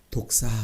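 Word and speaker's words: δόξα: 영광이라는 말은 헬라 말로 독사 이렇게 말해요. 한번 따라해봅시다. 독사. 뱀 슉 하는 독사 이게 아니고 발음은 비슷해요. 독사 이렇게 말해요.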